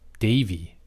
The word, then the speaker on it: Davy: Devi. Is it Devi or? Yeah, it's Devi. I want to say there's somebody else named D-Ivy. Davy. It's pronounced Davy, and he's, for the Phillies, I think he's a little larger.